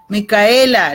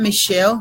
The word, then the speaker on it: Michaela: hair in a jar call me Michaela not Michele Michaela right is that how you pronounce it okay Xiomara yes pero